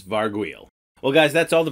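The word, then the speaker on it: Varghoul: Varg well Varg wheel it's not gargoyle with a V its Varg wheel well guys that's all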